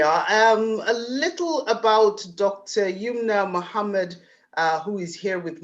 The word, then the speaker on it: Youmna: And I believe I'm pronouncing it correctly, Youmna.